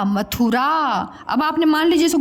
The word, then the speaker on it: मथुरा: इसके उच्चारण में समय कम लगता है, इसके उच्चारण में समय ज़्यादा लगता है।